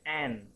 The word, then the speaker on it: aunt: Tulisannya aun, bacanya an.